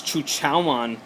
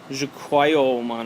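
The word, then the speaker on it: Zhuqiaomon: I don't know how to pronounce it, but the way the anime said is Chuchaomon, which is the sovereign, right? One of the Digimon sovereign. Let me see. This guy. See, if I try to pronounce that, it's going to be wrong, like Jukwaiomon, or I don't know. So I'm just going to call him Chuchaomon like the anime.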